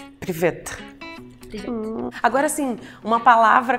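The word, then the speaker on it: привет: Não quero assustar, mas a versão mais simples de oi seria privet. Isso é fácil. Privet. Privet.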